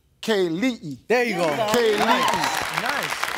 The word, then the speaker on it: Kelii: Is it Kelly? Kaylee.